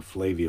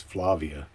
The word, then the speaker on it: Flavia: Flavia is here. It rhymes with Yugoslavia. I guess maybe I had been saying Flavia, but that's wrong. It's Flavia.